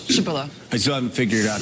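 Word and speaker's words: Przybyla: The PRZ is like a psh sound. In Polish. Shibilla.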